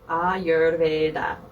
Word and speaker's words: Ayurveda: You're going to have to help me with this pronunciation of this Ayurveda. Yep, Ayurveda.